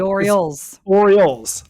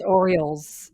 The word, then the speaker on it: Orioles: The Orioles. Also. Is that you don't say it like that? Oh yeah, that makes sense. It's Orioles.